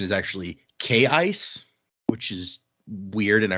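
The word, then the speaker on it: Kaise: in this book, Keen's daughter, who we called Casey, uh it's written K A I C E. Apparently the pronunciation is actually K Ice, which is weird and I refuse to say that.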